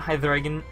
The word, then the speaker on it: Hydreigon: which I do say like that. That is the proper pronunciation, by the way. Watch True Green 7. But I did want Hydreigon and Sylveon at one point.